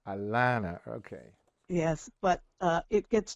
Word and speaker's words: Alanna: So I need to ask you a very deep and meaningful question and that is am I pronouncing your Christian name right Alanna? It's actually Alanna. Alanna, okay.